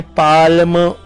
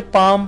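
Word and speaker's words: palm: L लिखा हुआ है उस L की आवाज यानी पाल्म इस तरह से नहीं पढ़ते बल्कि उसे पाम पढ़ते हैं और L जो लेटर है वो यहाँ पर साइलेंट होता है।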